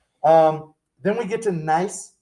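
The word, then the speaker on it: gneiss: then we get to nice the g is silent so it's like nice um nice has your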